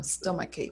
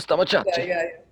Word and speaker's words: stomach: some same for example when people try to say they sometimes say stomach hey i have it so much i saw my chat i was like what no stop my cake that's funny i'm gonna